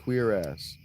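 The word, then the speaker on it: cuirass: It is pronounced queer ass in fact.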